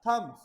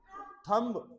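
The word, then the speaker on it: thumb: थंब नहीं बेटा थम ये इसमें बी नहीं बोला जाएगा थम बहुत ही सॉफ्ट साउंड आती है अगर बी की आएगी बेटा थम थम थंब ऐसे नहीं बोलना है आपको तो दीज आर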